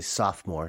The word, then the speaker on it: sophomore: I think most Americans wouldn't know that there's a third O in there. So we say sophomore, not sophomore, but you spell it sophomore.